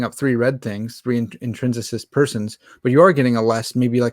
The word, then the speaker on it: intrinsicist: of um intrinsic um i always say it wrong i always want to say intrinsic persons uh intrinsicist person yeah and you you